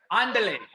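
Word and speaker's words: Ándale: Andale.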